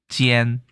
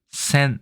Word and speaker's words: 尖: 일본은 우리랑 똑같네요 그렇죠 발음은 처음 지엔 센 이렇게 되어 있습니다 그리고 훈독으로는 토가루 스르도이